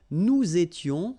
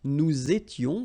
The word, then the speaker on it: nous étions: Okay, tu étais, il était, elle était, nous étions, little liaison here to make it more beautiful, nous étions, okay, final S not